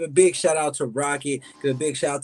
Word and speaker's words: RKKT: Uh my name is RKKT, pronounced Rocket.